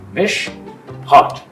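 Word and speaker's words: משפט: It's a Hebrew word, MISHPOT, pronounced MISHPOT.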